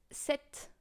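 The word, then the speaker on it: sept: six come comes seven which is Set uh as set of Legend exact same way to pronounce it you know then we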